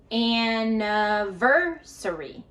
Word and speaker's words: anniversary: Notice that the stress is on the ver. So we're going to go higher, louder, and longer. In aversary. The other syllables, no matter if it's the i or the e, we're going to schwah them. So that means we'll go faster and we'll go uh uh.